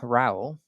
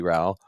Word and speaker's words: Rowell: Reed, today we have Misty Rowell. Did I get that? Rhymes with growl.